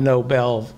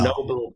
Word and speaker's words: Nobel: the uh the the noble prize it's pronounced the noble noble pride the nobel prize right the nobel prize